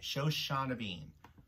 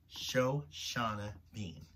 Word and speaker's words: Shoshana Bean: bean i can never say her name right show shauna bean show shauna bean get it right gilbert and i've covered a